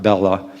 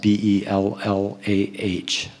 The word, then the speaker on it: Bellah: last few years, is by the late Robert Bellah. It's spelled B-E-L-L-A-H, Robert Bellah.